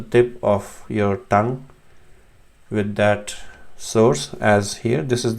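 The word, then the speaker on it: ثاء: So tha is your tip of the tongue, and somewhat touching the corner, the bottom corner of your front teeth, upper teeth.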